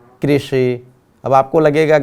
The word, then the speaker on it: कृषि: तो आपको भी ये समझना है कि जब रू गुजराती में बोलते हैं लेकिन हिंदी में इसका उच्चारण हमें री करना है, और यहाँ भी क के साथ ये री जुड़ा हुआ है, इसलिए ऋषि।